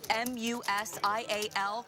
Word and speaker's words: Musial: of the pronunciation of M-U-S-I-A-L would have avoided all of those strikeouts. The first 3 sites were a hit, showing a good phonetic breakdown of Musial, like musical without the C.